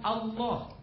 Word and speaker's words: Allah: Sedangkan ALLH pelafalannya semuanya sepakat dilafalkan Allah.